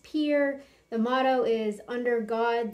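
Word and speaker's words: Pierre: Mount Rushmore State uh the capital is pronounced Pier the motto is under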